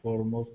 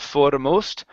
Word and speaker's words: foremost: to learn good okay let's try this formost instead of foremost for foremost of his life for most of his